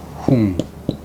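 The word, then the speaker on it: 薨: 제후는 흥. 꿈몽자무처럼 조금 밑에 죽을 샀지. 발음이 흉이 아니고 흥.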